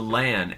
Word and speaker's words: LAAN: Well, I do know the name of the device is called the LAAN. L-A-A-N. That is pronounced correctly.